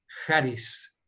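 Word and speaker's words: χάρις: A veces en los libros se encuentra escrita con H-A-R-I-S, pero yo prefiero mejor pronunciarla como con J, charis.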